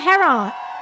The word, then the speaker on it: Heron: Hello, Heron. Is it Heron? Yes. Heron, isn't it Heron? It's heron, just like the bird.